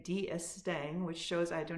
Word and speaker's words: D'Estaing: Following the alliance with the French, Admiral and I wanted to say D'Estaing, which shows I do not know my French.